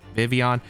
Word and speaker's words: Vivillon: Finally, the last Pokemon to provide some speed control to this team, we have the Compound Eyes Vivillon. And yes, I did actually pronounce it right.